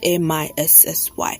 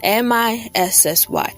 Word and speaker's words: MiCi: MiCi spelled MiCi and pronounced MiSSY. That's right. If you need a pen, grab one. MiSSY. That's how you pronounce MiCi.